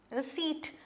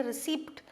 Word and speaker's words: receipt: Receipt, this P is silent, you do not say receipt, it is receipt, okay, it is pronounced as receipt.